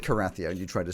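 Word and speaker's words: Cerathia: okay I'm sorry used in the fight the karathia why space c-e-r-a-t-h-i-a see all up exactly how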